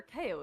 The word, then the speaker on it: KO: Or what the hell is KO? I just assumed it was short for like Chaotrix because that's his like holy day. But it's not pronounced like chaos. It's KO.